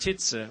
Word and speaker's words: Titze: My last name, which is German, is pronounced Titze or Titze if the I is followed by an E in the spelling, which in some of my ancestry it is.